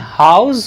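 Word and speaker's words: house: वहीं पर जब इसका यूज एज एन एडजेक्टिव होता है तो वहां पर इसका प्रोनाउंसिएशन से के साउंड के साथ होता है। यहां पर इसका प्रोनाउंसिएशन हाउस होगा, हाउस हाउस, इसका प्रोनाउंसिएशन होगा हाउस हाउस।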